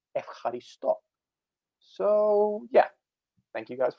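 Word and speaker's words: ευχαριστώ: sound changes over time, instead of being pronounced Eucharisto, it's now pronounced Evcharisto.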